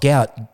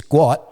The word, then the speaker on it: Gout: They all know it's not gout. It's guat.